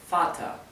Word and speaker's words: Vater: les mencioné antes, que las terminaciones con ER, tanto en der como en Vater, la ER se pronuncia más bien como una A y una R casi imperceptible. Así que Vater podría pronunciarse F-A-T-A-R, o como la R es casi imperceptible, podría pronunciarse F-A-T-A, Vater. ¿Bien?